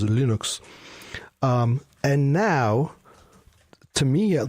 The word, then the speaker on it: Linux: name is Linus Torvalds the proper pronunciation of Linux is Linux and now to me